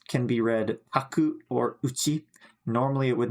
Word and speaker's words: 家: But here, we're using this kanji, but we do pronounce it uchi.